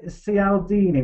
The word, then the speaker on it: Cialdini: It's spelled, the book's called Influence, The Psychology of Persuasion, and it's by Robert Cialdini, which is spelled C for cockerel, I for Indian, A